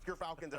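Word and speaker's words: Gyrfalcon: Gerfalcons, everyone. So anyone who mispronounces it, that's how you say it.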